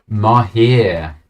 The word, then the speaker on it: Mahir: Mahir. There we go. Phonetically spelled out for everyone to know. That is the true phonetic sound.